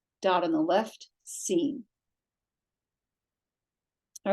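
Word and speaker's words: שִׂין: With the dot on the left, it makes the S sound.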